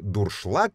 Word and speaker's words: дуршлаг: языков в данном случае дуршлаг это слово немецкого происхождения обозначает посуду с отверстиями и помните да для процеживания или протираний пищи произношение и написание обусловлены немецким исходником дуршлаг так и пишется дуршлаг как переводится не могу